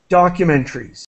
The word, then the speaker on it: documentaries: to let you know I say documentaries so I don't really pronounce the syllable created by the a here I we say in English well in English teaching we drop that syllable documentaries documentaries documentaries perfect okay